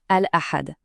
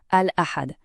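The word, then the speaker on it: الأحد: Je vais prononcer chaque jour et l'idéal, c'est de répéter après moi. On commence avec le dimanche, Al-Ahad. Une deuxième fois, Al-Ahad.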